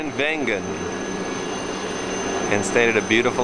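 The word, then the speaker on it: Wengen: This is Vengen, W-E-N-G-E-N, pronounced Vengen.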